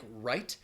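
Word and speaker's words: write: You also have the WR combination where the W is silent in words like right.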